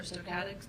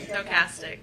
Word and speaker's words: stochastic: term calling thresholds or somatics threshold um I am yes those two terms I should say yes am I pronouncing it correctly stochastic threshold stochastic thank you very much no problem